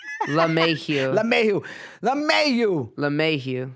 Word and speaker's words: LeMahieu: la Mae Mayhew you la may you know not la la la la la it's like love but uh LeMay here let me LeMay